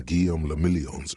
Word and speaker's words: Guillaume le Million: If it doesn't rhyme, you're not pronouncing it right.